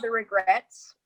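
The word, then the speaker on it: The Regrettes: All right, have you ever heard of The Regrets? No. Okay, so it's spelled like they spell it differently. It's REGRETTES, but they're like totally Okay.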